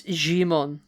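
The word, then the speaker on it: Djimon: our demon hu who I want to say the D is silent I have a pronounce here hold on you know we're like on Wikipedia it gives you it phonetically it's jimon jimon okay unu he's great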